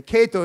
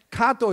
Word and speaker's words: Kato: Kato real name is the cut off your pronunciation do something wrong ok Kato is the American Way Kato is a right way to pronounce all right